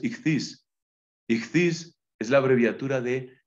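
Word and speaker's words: ἰχθύς: pescado en griego esis que se suele pronunciar ictus pero lo correcto es itis itis es la abreviatura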